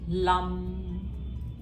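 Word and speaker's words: लं: और मन ही मन में लम, ऐसे प्रोनाउंसिएशन है इसकी, इस मंत्र को रिपीट करो.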